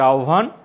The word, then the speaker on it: আহ্বান: হয়বার উচ্চারণ ওভ, আর একটা হচ্ছে উভ। এটা আহ্বান ওভ, এটা জিহ্বা। মানে হয় ভয়ের আগে রস্বই থাকলে উভ হয়, তাহলে জিহ্বা বিউভল। আর এখানে আহ্বান, আহ্বায়ক, গহ্বর, এই শব্দগুলো, এই উচ্চারণগুলো তোমরা একটু ঠিক করে নেবে।